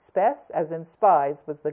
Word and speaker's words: Spes: of the Temple of spies I.E spies spe pronounced spess as in spies was the goddess of Hope